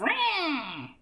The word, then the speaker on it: Ra: Ruby of Rah! That's how you're meant to pronounce that, by the way.